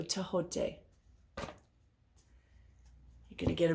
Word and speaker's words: Thoth: A lot of people say Thoth. That is not how it's pronounced. The H is a sound. So Tehote.